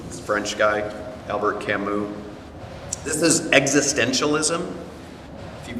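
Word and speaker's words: Camus: The guy, the way you uh pronounce his last name is Kamu. This French guy, Albert Camu.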